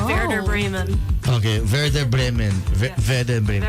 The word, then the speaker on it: Werder Bremen: Did I murder the Frauen Bundesliga? You absolutely butchered it, but that's okay. Everyone does. Okay, how was it? It's the Frauen Bundesliga, Werder Bremen.